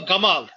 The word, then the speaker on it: Jamal: he says the Egyptians, they pronounce the G as Ga. Jamal to Gamal.